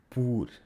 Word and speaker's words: por: way, don't forget that the circumflex accent on the verb pôr serves to avoid confusion with the preposition por (for), where the O makes the sound [u]: pôr, por.